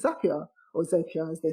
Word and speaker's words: Zapier: around you yeah and zapier's yeah couldn't live without that yeah zapier makes you happier is actually the right pronunciation all right um what's